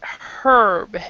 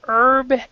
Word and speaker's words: herb: Another person might pronounce it herb, and they'll say the H. From my understanding, it isn't the difference between British and American English. This one has to do with personal preference by the speaker. But some people will say herb, and some people will say herb, and it means the same thing.